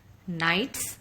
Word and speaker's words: knights: Now, students, look at the 2 words, knights and gnomes. You will see the spelling written and the way we pronounce is different. This is because the letters K and G are silent.